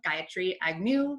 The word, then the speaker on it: Gayatri Agnew: So I am super thrilled today to welcome Gayatri Agnew, and I hope I pronounced that right after I've known you for